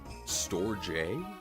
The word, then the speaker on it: Storge: I think it's storej. That's how you say it.